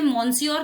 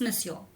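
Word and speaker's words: monsieur: जो भी है तो वैसे फ्रेंच में मिसयोर कहते हैं और मिसयोर ये स्पेलिंग है इसे मनसोर नहीं कहना इट्स मिसयोर अ मतलब वो कह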